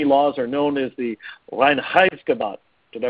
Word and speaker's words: Reinheitsgebot: Those German purity laws are known as the Reinheitsgebot. Did I pronounce that right, Al? Reinheitsgebot.